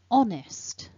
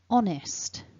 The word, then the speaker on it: honest: that all back together remember stress the first syllable repeat after me honest honest remembering that it's a silent h so there we go honest as always don't forget